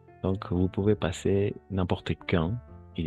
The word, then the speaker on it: quand: Quand. Oui, bravo. Pas quand. Quand. Siempre que veamos esto, no vamos a pronunciar la U, ¿de acuerdo?